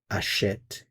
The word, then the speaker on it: achète: So where you do have the E accent grave, you do hear the vowel sound. If it's just the E, there is no sound. So achète, you hear it. Achetons, you don't hear it.